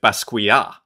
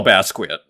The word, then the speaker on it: Basquiat: Keith Herring actually and what we see with pasquia as I was corrected on the pronunciation the other day shout out to August uh and Basquiat who I like to call Bass quit maybe that's like the North American pronunciation uh